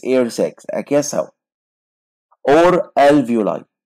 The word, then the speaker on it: alveoli: Or alveoli. Alveoli. خلي بالك من النطق.